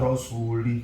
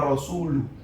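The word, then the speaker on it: رسوله: Annallaha bari'um minal musyrikin wa rasulih. Kaget loh. Kenapa? Karena bacaannya yang beredar di Kufah itu mestinya Annallaha bari'um minal musyrikin wa rasuluh.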